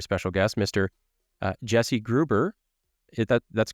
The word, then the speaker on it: Gruber: by a very special guest Mr uh Jesse Gruber that that's correct Jesse last name pronounced that right I just correct Jessie grber